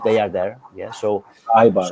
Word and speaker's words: Eibar: Yeah, so Eibar, right? Eibar, yes, Eibar. It's spelled EIBAR.